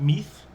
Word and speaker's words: Meath: becomes the king of meath that's what's pronounced as nowadays it's spelt m-i-d-e but it's m-e-a-t-h in english he's the king of